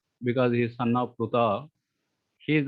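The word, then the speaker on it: Pṛthā: Okay, wherever there is a dot, we have to pronounce it as Pruta.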